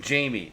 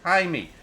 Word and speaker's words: Jaime: name is no pronunciating they were calling him Jamie it's Jaime actually I think